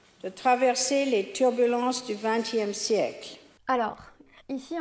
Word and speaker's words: turbulence: Elle dit permis, pays et turbulence. J'exagère un petit peu, mais c'est ça l'idée. En français, on va dire permis, pays, turbulence. On souffle pas en prononçant ces sons de consonnes.